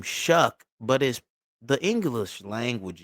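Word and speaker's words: Shough: you pronounce your name Shuck but is the English language is weird bro but he spell his name sh h o u g h but it's pronounced shuck.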